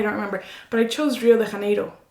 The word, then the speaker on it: Rio de Janeiro: And I'm like, I know I'm pronouncing it right. Right. Right, so the stupid one in this situation. Yeah. So she basically wanted you to say Janeiro. Something. Yeah, exactly. More English-like.